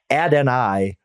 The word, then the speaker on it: Adonai: And then I learned this, by the way, Fitz, Adonai Mitchell, that's how he pronounces it.